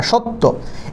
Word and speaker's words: সত্য: ত আবার তখন সত্য এই যে ত টা আছে এই তর সাথে কিন্তু একটা ও আছে কি আছে ও আছে